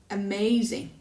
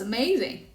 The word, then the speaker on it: amazing: are there three that's amazing now listen again and decide which syllable is louder longer has a change in pitch and is clearly pronounced amazing the second syllable perfect now that is